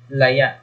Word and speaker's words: laya: Yung pagbigkas natin sa maragsa ng salitang ito ay laya. Laya. Kasi maragsa siya, laya. Kung mapapansin natin sa hulihan ng pagbigkas natin ay parang may impit na tunog. Parang may glottal stop.